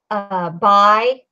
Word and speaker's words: Bi: Davy, Bi, or is it B? It's B. But it's spelled B-I. I've been calling this bitch Bi.